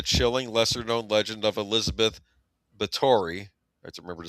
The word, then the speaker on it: Báthory: But this is a vampire story inspired by the chilling, lesser-known legend of Elizabeth Báthory. I have to remember to say her name right. People always say Bathory. I think it's Báthory.